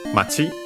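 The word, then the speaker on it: 町: Then we have Machi, again town, accented on the last syllable, last more I should say, but yeah, also last syllable.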